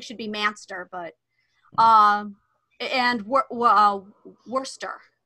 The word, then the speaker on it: Worcester: Manchester is Manchester, which I think should be Manchester, but and Worcester. It's Worcester. Oh yeah, Worcester. yeah. That no, one. I thought it was Worcester.